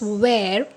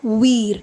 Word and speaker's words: where: For example, in this word we pronounce this as where, not we're, WHERE.